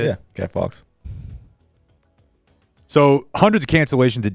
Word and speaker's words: Guy Fawkes: Yeah, Guy Fawkes.